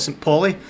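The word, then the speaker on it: St. Pauli: St po I think I think it's pronounced St PA in Germany but we would call it St poly um partner Club of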